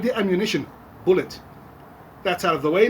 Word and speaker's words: Bulleit: it's easy as pie you just pronounce my name like you would the ammunition and there you have it so like the ammunition bullet that's out of the